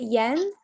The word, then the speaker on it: Jens: saying your name right is it yen yes it's an s at the end so it's j e n s pronounce j like y so i'd love to